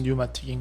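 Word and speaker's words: pneumatic: 영어로 할 때 뉴마틱은 앞에 P가 묵음이라서 뉴마틱인 거예요.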